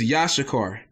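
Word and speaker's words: יששכר: really who you are is yashakar that's how you say it in the hebrew which uh the uh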